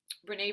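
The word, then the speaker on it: Brené: difference and so um Renee Brown is spelled b-r-e-n-e Brown is her last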